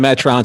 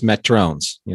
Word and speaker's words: Metrones: Yeah, it's not Metrons, it's Metrones.